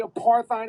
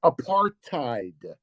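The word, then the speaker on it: apartheid: say you you say a paride i a paride he he doesn't even he can't even pronounce the word it's apar tide AAR apar tide you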